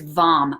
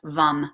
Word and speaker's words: Vam: And remember that the mantra for the sacral chakra is Vam, V A M, or pronounced Vum, V U M.